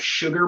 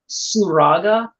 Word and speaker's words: Suraga: feel so bad because i almost used to call it sugar mark because it's spelled so similar but it's surraga which is s u